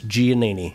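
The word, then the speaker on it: Giannini: was your last name it's hard I understand it's ganini how you spell that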